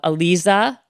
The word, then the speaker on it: Aliza: We have Alisa, right?